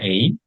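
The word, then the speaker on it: 英: Baik, kanji yang pertama di pertemuan ke-21 ini ada kanji ei, cara bacanya ya. Onyominya ei, kunyominya tidak ada.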